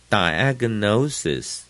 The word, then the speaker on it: diagnosis: history 也可以读作 history，也可以读作 history。medical。第十，accurate，前面就是重音 a，很重，accurate，准确的，accurate。第十一，diagnosis， no 的地方最重，前面的 die 是次重音，i 的长音 die， diagnosis， gnosis，动词是 diagnose， diagnose，那就是重音就在最前面。十二。Symptoms 重音在最前面，都读得很短。Symptoms。